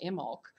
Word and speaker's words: Imbolc: In fact, this new moon is known as the lunar Imbolc. And by the way, that's spelled I-M-B-O-L-C.